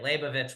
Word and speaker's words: Leibowitz: I always pronounced it Liebowitz. It's okay. Yeah, in English. I think Ron did that. Yeah, Leibowitz. It's okay. Leibowitz was how she went by in Israel.